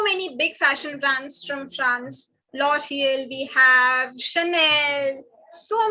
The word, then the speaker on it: France: spelling remains the same, only the pronunciation goes France, France. This has a nasal sound. Please don't say France, it is France, France.